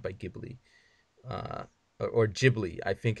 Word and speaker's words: Ghibli: and it's not by Ghibli or Ghibli I think it's how it's supposed to be pronounced but I know it's an Italian word so I'm automatically doing a hard G with an H so because in Italian